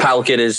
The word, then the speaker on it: PalKid: And PalKid it's very PalKid. It's 2 syllables.